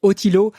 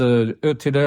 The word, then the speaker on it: Ötillö: En français, on dit Otilo. Ça te va si on prononce pas comme il faut?